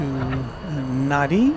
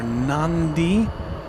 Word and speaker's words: Nadi: Fiji flight 891 is going to Nadi or Nandi as it's very I've heard it variously pronounced which is its home base in the Fiji Islands.